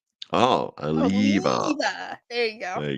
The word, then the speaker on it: Oliva: No, you got to drag out the E. Oh, Aliva.